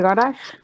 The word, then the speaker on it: garage: ¿Cómo suena la G? Vemos en esa palabra la misma consonante, pero con dos sonidos diferentes. Y la primera similar a nuestra, y la segunda como una Y aparentemente.